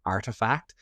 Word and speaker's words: ARTEFKT: It's called Artifact. It's spelled ARTEFKT.